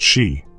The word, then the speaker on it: sídhe: But side pronounced she contains worlds within it.